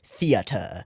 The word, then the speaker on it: theater: And I don't mean theater, I mean theater, with the multiple syllables in the EA there.